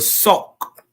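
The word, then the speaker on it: Sauk: Um they uh they mix with a people called the fox. So we got a we got a literal a people over here in the Midwest called the sock, but they spell it s a k.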